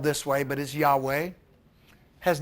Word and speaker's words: Yahweh: for over 2,000 years some thought the Lost pronunciation was Jehovah or Yahweh but Seth traces the name to the late Bronze Age and argues that it was expressed as who he it's in the document